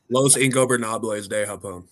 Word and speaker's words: Los Ingobernables de Japón: Their feud with Los Ingobernales de Japón is legendary, and I butchered the hell out of that.